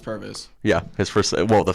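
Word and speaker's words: Pervis: I know it's not pronounced Purvis. It is actually pronounced Purvis.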